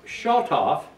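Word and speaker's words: שָׁטַף: It's from a root word, and it's pronounced shotof, and it means to rain violently, overflowing, to gush down, overflow, and wash away.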